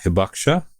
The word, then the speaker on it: Hibakusha: When I looked it up, there's a Japanese term which I'm going to horribly mispronounce. Hibakusha, is that right?